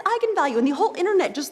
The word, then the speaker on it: eigenvalue: that i wasn't quite sure on how to pronounce it looked to me like egan value so right i mean i think that's what you would think eagan value so i asked is this how you pronounce